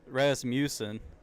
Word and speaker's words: Rasmussen: Yeah, like, dude, it's like when I first saw the name, I was like, how do you pronounce that? It's Rasmussen. I thought it was Rasmussen or something.